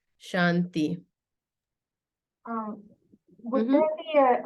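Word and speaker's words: शान्ति: this could be like Shanti right it's not the fault of the English speaker to call it Shanti it's a soft T but you can see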